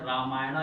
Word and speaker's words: रामायण: इसी तरह द रामायण, याद रखिएगा रामायण लिखते वक्त स्पेलिंग में हमें एक ए और बढ़ाते हैं, रामायणा लिखा जाता है, लेकिन इसका प्रोनाउंसिएशन रामायण क्या होता है।